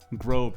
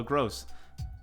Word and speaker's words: Gross: supposed to ask you how you pronounce that name pascal what is it for brighton globe grove it looks like grove it's pascal gross that's a fun character